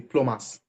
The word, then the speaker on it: plumber: would continue to be plumbers we call it plumber right but you know we don't pronounce B plumbers if not because of